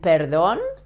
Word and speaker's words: perdón: This kind of R should be pronounced like this, like in these two cases, but you have to vibrate a little bit the tip of your tongue when you pronounce the R.